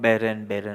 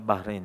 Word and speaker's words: Bahreïn: L'ancienne génération le prononce comme 'Behrain-Behrain', mais nous avons appris Bahreïn.